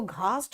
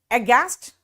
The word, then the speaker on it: aghast: हालांकि देखो, घास्ट और घोस्ट ऐसे याद रख सकते हो, है ना, घोस्ट को देखकर अघास्ट हो गई, लेकिन याद रखना यहां एच साइलेंट है, एच यहां पे साइलेंट है, इसीलिए मैं सिर्फ आपको